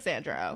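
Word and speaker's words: Sandra Oh: O, and then we were like, oh no, it's spelled O-H. It's different. But it's like Sandra O.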